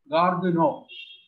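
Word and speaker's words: Gare du Nord: The pronunciation may be something like Gardeno. They pronounce it as Gardeno.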